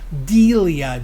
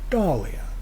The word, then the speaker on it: Dahlia: like people say Dahlia Delia dulia anything but Dahlia which is it's spelled d-a-h-l-i-a and my wife says that's the Swedish pronunciation no it's the correct pronunciation Dahlia anyway we got